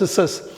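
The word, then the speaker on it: scissors: அடுத்த வார்த்தை நம்ம டெய்லி பார்க்குறது, யூஸ் பண்ணுறது தான் சிஸ்ஸஸ், கத்திரிக்கோள். அந்த கத்திரிக்கோளுங்கிற வார்த்தையில் சி சைலண்ட். நம்ம SISSORS அப்படிங்கிற இருக்கிற மாதிரி படிக்கணும், உச்சரிக்கணும். எழுதுகிறப்ப இந்த சிஎஸ் சேர்த்துக்கணும், கத்திரிக்கோள்.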